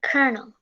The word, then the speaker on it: colonel: column now thing meant i thought i always pronounced it call calling calling out instead of colonel i don't blame you yeah if you don't